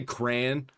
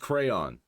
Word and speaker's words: crayon: If you say crayon, you're a fucking insane person. It's pronounced crayon. But at least it's better than pronouncing it crown.